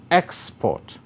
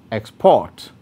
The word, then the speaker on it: export: having the same spelling nouns and adjectives are stressed on the first syllable while verbs are stressed on the second syllable take the examples of